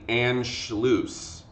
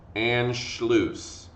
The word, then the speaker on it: Anschluss: 2 years later, in March of 1938, there is an incident known as the Anschluss. Anschluss, okay? And the Anschluss is spelled like this.